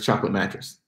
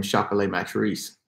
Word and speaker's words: Chocolat Matrice: I would be Chocolat Matrice. Better known as Chocolate Mattress. But I would want people to pronounce my name Chocolat Matrice.